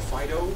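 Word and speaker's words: FD.io: I actually checked the fast time schedule from last year, and FDIO, or FIDO, as they pronounce it themselves, we're here.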